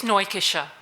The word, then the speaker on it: Neukircher: Neukircher. I'm very well, thanks, and you? Just switch on your mic and just correct me. What is the correct pronunciation of your surname? It's Neukircher.